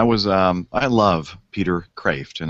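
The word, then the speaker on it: Kreeft: um i love peter craft and it's spelled it looks like it's criefed k-r-e-e-f-t but it's actually pronounced craft which is which means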